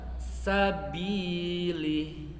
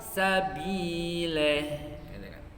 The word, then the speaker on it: sabili: Seharusnya dibaca sabili, kan sempurna. Sabili, itu kan? Tetapi sebagian orang ada yang kadang sulit membunyikan huruf I, malah kepada huruf E. Menjadi apa? Sabile.